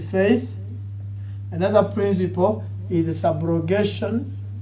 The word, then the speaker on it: subrogation: Another principle is the subrogation. See, you don't have to use A, it is SU.